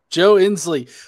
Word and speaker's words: Joe Ensley: I'm the Godless Engineer, and today we have Joe Ensley. Am I pronouncing your last name right? You got it. Joe Ensley.